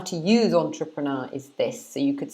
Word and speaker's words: entrepreneur: In English, we pronounce this entrepreneur. Entrepreneur. So entrepreneur. So it's 4 syllables. Entrepreneur. Like that. So we stress the beginning of the word.